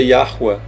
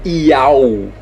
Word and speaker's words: Yahuwah: A pronúncia disso é Yahuwah. Não é Iau, não existe Iau aqui, gente do céu.